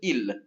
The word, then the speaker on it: ils: or it is flowers I el eel this will also be pronounced eel yeah I know you